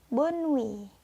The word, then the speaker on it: bonne nuit: Hai saya terakhir ada kata bonwe Bond tulisannya bonne nuit tapi kalian bacanya bon we Hai dari lima kata